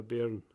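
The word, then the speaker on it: bairn: pronounce it for him so it's spelled b-b-a-i-r-n and glasgow would be a wayne in edinburgh it would be a baron or anywhere in the east coast ah okay yeah because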